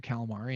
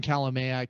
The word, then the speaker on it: Kalamaya: the ribs and said she's calling you mr calamari and i i just didn't like a dog i come to anything because i've had my name mispronounced on the pa system so many different times but um you know people often remember that but uh it's calamia k-a-l-a-m-a-y-a dot law and they